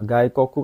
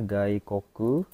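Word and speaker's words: 外国: Gaikoku kan artinya luar negeri ya. Ini bacanya Gikoku. Gaikok ya. Ini bacanya gaikoku artinya luar negeri.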